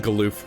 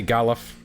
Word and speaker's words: Galuf: I like saying Galoof. Some people say Galuf. Galuf sounds stupid. Sounds like a failed horse sound.